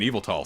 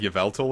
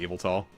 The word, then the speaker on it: Yveltal: like the 6 gen legendaries like journey isn't evil tall slap I liked the kiss didn't know that it was pronounced evil tall they were pronouncing it like you felt ill or whatever but on the trading card for